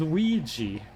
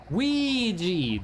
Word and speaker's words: Ouija: It's spelled Ouya and it's pronounced Ouija.